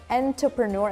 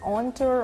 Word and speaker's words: entrepreneur: I just fought with my friend on this one because he kept saying it's like entrepreneur. I'm like, no, it's enter or enter, but not enter.